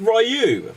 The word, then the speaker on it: Ryu: you can't pronounce Ryu yeah no it's it's pronounced rayu like I I've been playing this since like 1991 like so rayu and Ken that's it rayu and Ken rayu